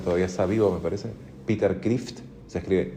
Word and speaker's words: Kreeft: filósofo pensador que todavía está vivo, me parece, Peter Kreeft, se escribe K R E E F T, Peter Kreeft.